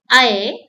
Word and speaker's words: ऐ: I, it sounds like A in bat or cat. And you have to open your mouth wide.